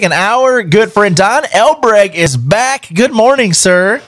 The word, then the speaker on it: Elbreg: who's your ecig and our good friend Don el Bragg is back good morning sir morning I'm always